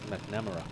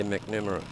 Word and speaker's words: McNamara: I worked with a bloke and his name was McNamara, but he wanted his name pronounced McNarama. Oh, really? Mm. Just to make it difficult for you? Or? Yeah, no, he wanted to emphasise the Mac.